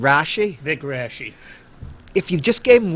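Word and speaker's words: Raschi: But if it was just, and Vic, how'd you pronounce his name, Rashi? Vic Rashi.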